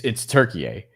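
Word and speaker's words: Türkiye: I know. It's Turkiye, but we're just used to saying Turkey here. But I think Turkiye is the correct way to say it.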